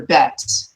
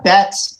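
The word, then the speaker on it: בית: Let's take a look at the letter bet. This makes the B sound like boy.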